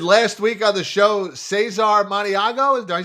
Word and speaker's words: Cesar Maniago: The aforementioned last week on the show, Cesar Maniago.